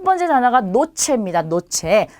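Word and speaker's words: noche: 자, 그 다음에 누베는 구름입니다. 그리고 나리스는 코예요. 코. 우리 신체 부위 중에 코 있죠. 자, 그래서 전부 다 그냥 니은으로 발음이 되는 거죠. 그래서 노체, 누베, 나리스 이렇게 발음하시면 돼요.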